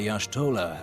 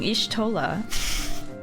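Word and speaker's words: Y'shtola: The etheric readings taken by Yashtolah at the time of this. That's how you say her name, have proven. I've been saying Ishtolah.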